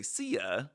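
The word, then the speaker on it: szia: them was like ca which is spelled like s z i a so you say ca and that means hi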